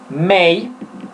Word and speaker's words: might: decir podría puedo decir might no se pronuncia la g mail o listón en cualquiera